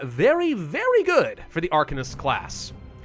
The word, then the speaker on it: Arcanist: I also would have preferred to pronounce the new class as Arcanist, but I've been specifically told that it's pronounced Arcanist in this game, because they're clearly masters of the Arcan.